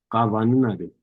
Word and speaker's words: ka vaninade: And so ka, you'll pronounce it more like a soft B. Okay, remember, not that hard double B, but the soft B. Ka vaninade, ka vaninade, the lake.